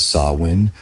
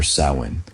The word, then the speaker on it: Samhain: end of harvest with a festival called Samhine, pronounced Sawin or Sin.